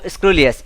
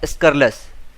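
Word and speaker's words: scurrilous: एल ओ यू एस ये इसका सही प्रोन प्रोनंसिएशन नहीं है। इसका सही प्रोनंसिएशन होता है स्करस।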